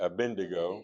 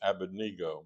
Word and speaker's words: Abednego: Shadrach, Meshach, and Abednego. You probably heard it. Abindigo, right? Uh it should be pronounced abenego, but uh we we're not going to camp on that.